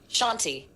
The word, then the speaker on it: Chauntea: I'm going to say it's Chauntea. Shanti. Sure? No, that's how you pronounce it.